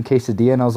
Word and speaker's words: quesadilla: thinking you know it's funny that people pronounce like quesadilla quesadilla and when I went to order I literally said I'll have the quesadilla and I felt so stupid because he's like don't you mean quesadilla and I was like